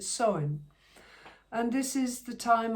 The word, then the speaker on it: Samhain: But today, it is the day of Samhain, or as it is spelled, literally, Samhain, and I think they pronounce it Samhain.